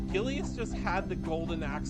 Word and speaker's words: Gilius: Gilius.